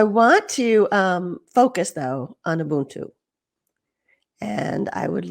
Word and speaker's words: Ubuntu: I say Ubuntu, and I think it's a little different depending on where you are in sub-Saharan Africa, how it's said.